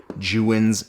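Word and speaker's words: Godox: So before we get on with the rest of this video, say this with me. Jiwin. Jiwin. Jiwin. If you can say that, that is the proper Chinese pronunciation of that company.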